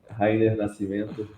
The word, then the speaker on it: Rayner Nascimento: A pronúncia está correta, pelo menos a primeira, é Rainer Nascimento.